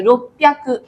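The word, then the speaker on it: ろっぴゃく: এখানে দেখছেন মানে রকুটা হলে আপনার এখানে দেখেন রকু আর হ্যাকু, রকু হ্যাকু অনেক ইয়ে শোনায়, তো এই জন্য হচ্ছে এটা জাপানিজ ইয়েটা এভাবে করে অ্যাডাপ্ট হয়ে গেছে, রোপ্যা হয়ে গেছে, রোপ্যাকু, ঠিক আছে? এরকম একটা উচ্চারণ হয়ে গেছে।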